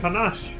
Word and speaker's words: panache: he sold countless others with unerring perception and panache I have to look up that word again